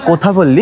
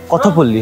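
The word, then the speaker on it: కొత్తపల్లి: এই যে কথপল্লী ওয়াটারফলস, ইংরেজিতে কোথাপল্লী, কিন্তু কোথা নয়, উচ্চারণটা কথপল্লী হবে, কথপল্লী।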